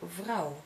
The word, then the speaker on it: vrouw: is ui, onion, ui, We also have O U, which you pronounce as ow, like in now in your language. In Dutch, for example, vrouw, which means woman.